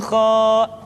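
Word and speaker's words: خ: Kesalahan berikutnya pada huruf kha adalah suara yang tidak menebal. Padahal huruf kha memiliki sifat al-isti'la. Ada sebuah kaidah, kulul musta'la al-mufakhmah. Semua huruf yang memiliki sifat al-isti'la mesti diucapkan dengan suara yang tebal. Perhatikan, diucapkan dengan suara yang tebal. Bauh, tidak bah, tapi bauh. Aukha, tidak akha. Kha, khi, khu, bauh, tidak kha, khi, khu, bah, tapi bauh, menebal suaranya.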